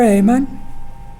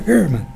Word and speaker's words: Ehrman: Dear Brother Amon, nice. Yes, did I pronounce it right? Yep. I'll never understand Americanese when it comes to pronouncing German. Brother Ehrman, please.